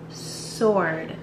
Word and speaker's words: sword: The W is silent. It's just sword, not... It's a sword.